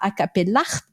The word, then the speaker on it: Acapellart: Et donc, il a donné naissance à Acapellart, puisqu'il faut prononcer le T.